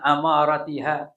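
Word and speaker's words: أماراتها: kiamat nih bifathil hamzati Jadi cara membacanya amaratiha dengan difathahkan huruf hamzah amaratiha an amaratiha bifathi hamzah bifatil hamzati dengan memfathahkan huruf hamzah ai alamatiha artinya apa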